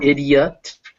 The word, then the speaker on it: idiot: like the letter e the letter i is also pronounced e if it's before another vowel that is pronounced separately so idiot and alien uh both those vowels